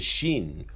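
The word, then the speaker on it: ש: The shin, when it has a dagesh or it has a dot on the right side of the letter, it is pronounced as a sh.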